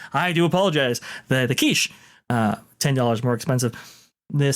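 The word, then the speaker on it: quiche: the pesto barata is $6 more expensive the quet $10 more expensive the sandwiches an old Che it's it's pronounced kich oh kich I I do apologize the the kich uh $10 more expensive the sandwiches are $5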